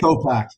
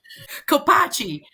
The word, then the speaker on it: Kopach: Kopak. H is silent. Kopak. Yep, H is silent. You're good. Kopachi. Yeah, Kopach is the most common, but yeah, the H is silent.